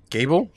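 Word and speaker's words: Gebel: is the bad guy gable no it's pronounced Jabil she said table yeah it's a table what the no it said gable the first to the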